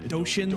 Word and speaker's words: Doshin: That was how do you pronounce it? Not Dorian the Great. Doshin the Giant.